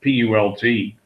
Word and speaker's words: Onlypult: I guess I don't know how you pronounce that, P-U-L-T. OnlyPult. Any idea how to pronounce it, Larry? Sorry, I was on. It's like putt. Just throw an L in there. Pult.